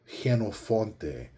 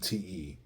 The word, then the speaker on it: Jenofonte: So, for example, in Spanish, the version of my name is Genofonte. They take a J and they do Jenofonte. Okay, so Genofonte.